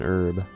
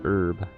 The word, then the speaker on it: herb: I wonder how many people actually pronounce the H and herb cuz I kind of just pronounce it as herb, not herb, because that kind of feels weird to say it like that actually.